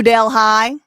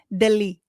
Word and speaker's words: Delhi: New Delh High. They don't pronounce it like that. You know how they pronounce it? Delhi.